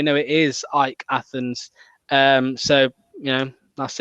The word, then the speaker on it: AEK Athens: your team played against i've always called them aek athens and i found out last night it's pronounced ike athens yeah yeah my my